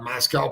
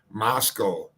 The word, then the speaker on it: Moscow: We're going to go, I'm sorry, Moscow. So I have been pronouncing it wrong. It is Moscow.